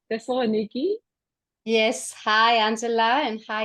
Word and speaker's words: Thessaloniki: Thessaloniki? Yes. Hi, Angela, and hi, everyone. Hello. I'm in Thessaloniki, Greece. So this is for the pronunciations.